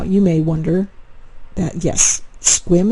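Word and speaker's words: Sequim: may wonder that yes squim is pronounced squim to write rhyme with swim and it is located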